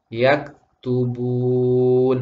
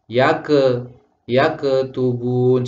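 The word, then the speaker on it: يكتبون: Sehingga kalau kalimat yang seharusnya dibaca yak tubun sering dibaca yake tubun. Seharusnya yang betul adalah yak tubun.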